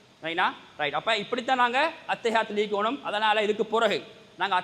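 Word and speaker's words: التحيات: எப்படி பெரும்பாலும் ஓதுற தெரியாதாக்கள் அத்தையாத்து எப்படி ஓதுற அத்தையா அத்தா இல்ல எப்படி ஓதணும் அத்தஹியாத்து எப்படி ஓதணும் அந்த ஒன் நிக்குது அதுவும் அந்தஹ தொண்டை குள்ளுக்கு வரக்கூடிய சரியான உச்சரிப்போ எப்படி ஓதணும்ங்க அத்தஹியாத்து பயமில்லாம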